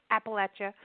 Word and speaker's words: Appalachia: think about Appalachia, and I'm saying it right because I've heard that, you know, it's about the apple being thrown at you. It's like Appalachia, you know.